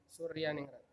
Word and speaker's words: Soerjaningrat: nama Raden Mas soewardi soerjaningrat Suryaningrat bacanya Suryaningrat Young Lex kihajardewantoro berasal